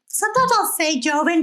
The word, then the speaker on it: Joven: I'll say it right. Joven, right? Yeah. And it's like Hova.